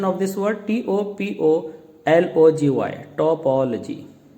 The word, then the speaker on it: topology: Now let's see first in the beginning what is the pronunciation of this word, TOPOLOGY, topology. Now let's break it, TO space Pol space OG, topology, ना कि पोलोजी।